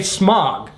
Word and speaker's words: Smaug: people just forgo the whole ah u thing and say smog because the truth is we haven't used the diphthong since 400 500 years ago like back in the time of shakespeare now we pronounce the a you as we do in the words august or auto there is no diphthong it's just a straight ah sound now we still have